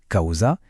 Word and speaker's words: causa: Le mot latin causa, prononcé causa, qui veut dire chose, a été emprunté par la langue amazigh et il est devenu tagausa.